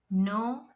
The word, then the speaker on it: know: So in the beginning, if you get K and N words, the K becomes silent. You have to pronounce the N sound. So examples: knife, knee, not, knit, know, known, knowledge, knuckle, night, new.